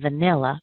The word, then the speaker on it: vanilla: a little bit further the first VA in vanilla because it's in a weak syllable we're going to remove that vowel we're going to say it quickly so we'll end up with a sound uh uh so you're not saying a or a or uh any of the regular vowel sounds you're just going to say uh so here's the first